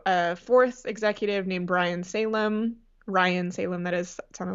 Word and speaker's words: Salame: were calling him Ryan Salome or something like that. Yeah, it's spelled s a l a m e, but it is pronounced Salame which I learned.